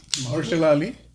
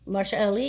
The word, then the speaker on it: Mahershala Ali: Mahershala Ali. Mahershala Ali, yeah, that's it.